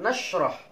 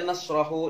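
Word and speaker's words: نَشْرَحْ: Ini ambil jazam, nashrah. Nashrah. Ini dibaca sukun. Jangan dibaca nasrahu, nasrahi, nasraha. Tidak. Alam nashrah mesti sukun.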